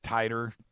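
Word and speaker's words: Titor: think he's the second is it Teeter titer how they pronounce it oh the guy that calls himself titer Yeah Yeah well yeah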